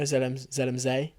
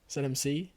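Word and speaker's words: Zell am See: Yeah, it was in Austria, Zelmzee. And... Is that how you pronounce it? Yeah. Oh. ZMC. I thought it was ZMC. Zelmzee. Zelmzee.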